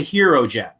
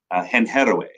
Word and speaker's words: Hero Gen: Am I saying that correctly, first of all? You are. You're not only saying it correctly, it was designed to be said any way you want to say it. In fact, my South American clients and audiences, they say henheroe.